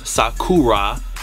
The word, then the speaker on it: Sakura: Puma Sakura, which is Sakura. I'm saying it how you should properly say it, Sakura, because in Japanese, the R's are pronounced as L's.